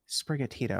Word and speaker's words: Sprigatito: There's Sprigatito, which is the grass cat. Then there's Fuecoco, which is the fire crocodile, and then there's I have like the Quaxley. Pronounce the green one again. The cat. Sprigatito.